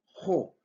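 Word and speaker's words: ὁ: Tenemos aquí un artículo definido que es jo. Se pronuncia jo esta o porque en griego hay lo que se llama espíritus.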